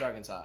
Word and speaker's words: Arkansas: It's pronounced Arkansas.